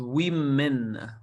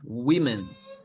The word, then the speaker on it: women: right this word is women one woman many women plural is women not women okay women it's it's pronounced in a different way than it's spelled one woman two women